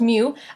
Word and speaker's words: mu: the Pokemon it is a Greek letter it's pronounced mu you know this one already it's the average